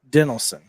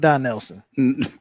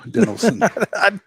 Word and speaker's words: Dinelson: Now it's Dinelson. Not Don Nelson. No, Dinelson.